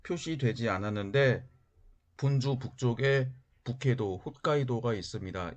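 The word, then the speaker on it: 北海道: 그리고 인삼처럼 약간 길게 늘어진 섬이 본주, 일본어 발음으로 혼슈입니다. 그리고 이 지도에는 표시되지 않았는데 본주 북쪽에 북해도, 홋카이도가 있습니다.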